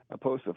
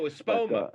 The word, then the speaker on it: Espoma: The growing medium at that time was something from Miracle Grow, but I've since switched to Aposa for this year. Aposa, I can't pronounce it properly. Oh, Espoma.